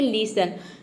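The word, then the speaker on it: listen: हैं जैसे कि है लिसन लिसन में देखिए टी ई एन एक साथ आया है यहां पे टी साइलेंट रहेगा लिसन मतलब होता है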